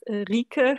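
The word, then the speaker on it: Rieke: Yeah, it's Rike. It's very difficult. How do you pronounce your name?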